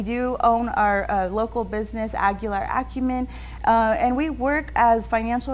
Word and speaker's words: Aguilar Acumen: Of Aguilar Acumen?